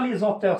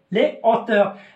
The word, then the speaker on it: les hauteurs: هنايا قلنا ما كتنطبقش عليها لا ليزون، دونك في اش اسبيري je dis les haricots, les hauteurs, je dis pas les auteurs, c'est faux. Les hauteurs, les haricots.